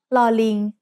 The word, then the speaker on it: ลอลิง: The sound of ลอลิง as an initial consonant is l, like the L in little. When it's the final consonant in a syllable, ลอลิง also makes an sound just like รอเรือ did.